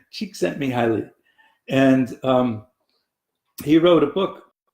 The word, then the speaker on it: Csikszentmihalyi: spell his name but on a good day I can speak it it's Mihaly Csikszentmihalyi she except me highly and he wrote a